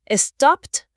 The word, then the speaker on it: stopped: Sí, mencionaron también las terminaciones del pasado simple, el famoso ed, que tiene tres pronunciaciones distintas. T, d o id, ¿cierto? Stopped, t, played, d, wanted id.